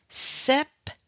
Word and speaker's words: septembre: novembre septembre septembre donc remember when we have set means number seven in English 7 normally we don't pronounce the p alors avec le nombre